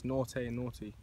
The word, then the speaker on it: Nortei Nortey: The correct pronunciation is Nortei Nortey.